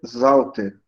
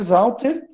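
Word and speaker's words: Sauter: E o Zauter se escreve com S, mas se pronuncia com Z.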